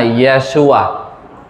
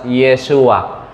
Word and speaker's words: Yeshua: Ang pangalan niya Yeshua. Ayan. So kung nandoon ka sa Israel, i-pronounce yung pangalan ni Jesus, Yeshua.